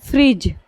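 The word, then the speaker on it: fridge: जो है क्या है डी और जी अगर एक पास आए तो हम डी को क्या करते हैं साइलेंट कर देते हैं ज का जी वाला जो आपको बदलाई थी मैं ज का साउंड आता है सिर्फ जी का साउंड आता है तो यानी दोनों को मिलाकर हम ज पढ़ते हैं ठीक है जैसे आप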